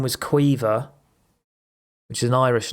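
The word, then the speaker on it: Caoimhe: But it was spelt something like C-I-A-H... No, C-I-A-M-O-H-E, I think. And that's Queever. It's like an Irish thing, right?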